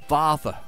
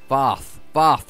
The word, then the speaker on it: Varth: Varth, like Darth. No, Varth, like Darth. Varth. Can't pronounce it anyway.